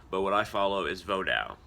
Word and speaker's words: Vodou: what I follow is vodao that's that's how you say it it's a French word but it means a